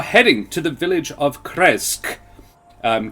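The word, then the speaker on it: Krezk: um you are heading to the village of kresg um k r k-r-e-z-k um nice and easy to pronounce that one and then you um and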